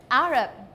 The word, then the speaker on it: Arab: careful with the pronunciation arab arab we straight on the first syllable arab rebit aaron thank